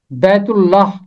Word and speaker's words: بیت اللہ: اس کی 48ویں آیت۔ اس کا تلفظ ہے بیت اللہ۔ اگر آپ اسے عربی انداز میں پڑھیں گے تو یہ پڑھا جائے گا بیت اللہ، کیونکہ عربی زبان میں بڑی یہ نہیں ہوتی، صرف چھوٹی یہ ہوتی ہے، تو اس